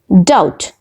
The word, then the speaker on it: doubt: numb it is num okay next word is doubt doubt in the word doubt be is not pronounced we don't say da but okay it